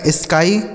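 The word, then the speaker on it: sky: तो एस से हो गया दोस्तों आधा स। इस के से हो जाएगा क और वाई का उच्चारण आई होगा। ठीक है? इसे पढ़ा जाएगा स्काई मतलब क्या हो जाता है?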